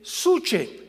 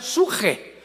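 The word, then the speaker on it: נפש: apuntarla, en el hebreo, es la palabra con P de Pedro, de Samuel, suche, que en el hebreo se pronuncia suje, porque la CH se pronuncia en hebreo como J.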